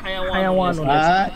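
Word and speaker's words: حيوان: হাওয়াইনুন, আচ্ছা উস্তাদ, এর উচ্চারণ কি হাওয়াইনুন না হায়ানুন না হায়াউনুন? হাইওয়ানুন শব্দটা এখানে কি লিখছে? হায়াওয়ানুন, ইয়াউ হা জবর হা, ইয়া ওয়াব জবর ইয়াউ, হায়াওয়ানুন, হায়াওয়ানুন, হায়াওয়ানুন।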